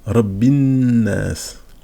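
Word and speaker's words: رب الناس: Le alif là, lorsque le mot est tout seul, je dis annas, mais lorsque je vais lire tout le verset, je vais faire la liaison et on va passer de Rabbi annas, donc Rabbinnas, directement Rabbinnas, donc même le alif, finalement, on l'écrit, mais on ne prononce pas.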